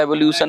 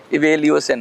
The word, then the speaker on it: evaluation: देखिए प्रोनाउंसिएशन में कुछ गड़बड़ हो सकती है, एवोल्यूशन नहीं है, एवेल्यूएशन है, इवेल्यूएशन है।